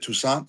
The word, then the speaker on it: Toussaint: Is it Toussaint? Am I saying it right? Toussaint? Yeah, Toussaint.